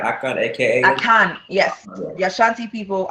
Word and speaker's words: Akan: Akan, yes. Okay. The Ashanti people are part of the Akans. Okay. What other tribes are part of the Akans? So Akiapims are Akan, Achims are Akans, Fantis are Akans, and it's like we speak Chi.